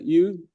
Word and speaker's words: eau: water, bridge, Lincoln, in the French word for the water is EAU, how you pronounce that? U.